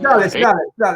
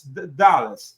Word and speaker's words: Dulles: Dulles, you're right. The pronunciation is Dulles. I didn't want to say anything. No, but you're right. It's like the airport in Washington.